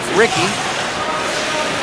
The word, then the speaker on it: Ricci: On the backhand, spelled Ricci, pronounced Ricky.